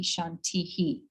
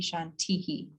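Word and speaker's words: शान्तिः: chant Om Shanti Shanti Shantihi, because that last Shanti has the H with the dot below it. So it's echoing the I. Does that make sense? Yeah. Yeah, right. So Shanti Shanti Shantihi.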